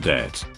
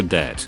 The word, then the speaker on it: debt: ridiculous, remember that the reason why we have a silent B in it is because a group of guys got together to standardize English spelling and got to the word debt, which at the time